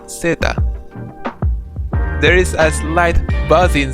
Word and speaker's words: zeta: finally we have the letter Z which is pronounced Zeta there is a slight buzzing sound coming from